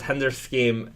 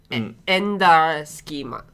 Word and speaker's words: Hender Scheme: Or it says hender scheme. It's hender scheme or henders ski schema. Hender schema in Japanese. Ender schema. Okay. So, I've been saying it wrong, but I you know I I don't know.